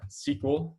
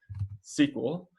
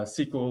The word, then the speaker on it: SQL: you'll notice is that i'm pronouncing this uh sequel like the word sequel and not like sql uh pronouncing uh sql like sql is sort